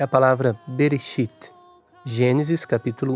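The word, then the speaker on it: בראשית: Então você pode observar que o Aleph é mudo no fim da sílaba e, portanto, não tem nem vogal e nem sheva mudo a seguir. Primeira sílaba, então, é Berê. Mas o Aleph está anexado ao Berê, só que ele é mudo, não se pronuncia.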